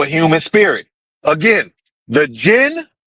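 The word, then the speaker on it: djinn: Again, the jinn, the jinn, the D is silent, like in the Django.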